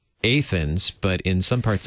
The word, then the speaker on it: Athens: is it Athens or Athens in Georgia it's Athens that is one town we do pronounce correctly well Pastor how tell us a